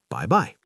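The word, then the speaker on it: 拜拜: They say bye-bye. Yes, just like English, bye-bye. But give it a Chinese flavor. 4th tone, neutral tone.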